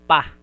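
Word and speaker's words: ぱ: Ha with maru handakuten, it will be pronounced as pa.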